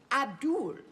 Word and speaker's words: Abdul: When I asked how to pronounce his name, he said, Abdul, like Paula.